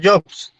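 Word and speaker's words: Hobbes: Thomas Jobs. Leviatán, googleenlo. Lo van a leer. Se escribe H-O-M-A-S, espacio, ahí sería Thomas, G-O, perdón, H-O-B-B-E-S, si no estoy mal.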